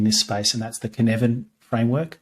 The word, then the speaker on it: Cynefin: my fave in this space, and that's the Cynefin framework, Cynefin. Hard to pronounce, hard to remember, but it's by a guy called Dave Snowden.